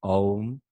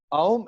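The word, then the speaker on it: ॐ: they could just chant Om. So it'll be great for everyone. See, it is actually it's not om. Mm-hmm. Aum is the last sound, that syllable that comes.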